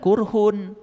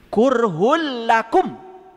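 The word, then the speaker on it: كُرْهٌ لَّكُمْ: Awas jangan kurhun. Karena apa? Domah dua menghadapi lam itu idgam pilaguna. H kurhul lakum gitu.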